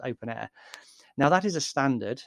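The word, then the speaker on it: openEHR: open air i say open air it's it's written open ehr but it's it's pronounced open air now that is a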